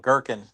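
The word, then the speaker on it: gherkin: How do you spell it? G H E R K I N. Girkin.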